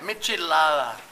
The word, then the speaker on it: michelada: How do you pronounce that? Michelada.